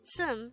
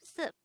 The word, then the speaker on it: 습: But take note that this is pronounced as sum instead of sup, because the biup character is followed by a nian character on the next syllable.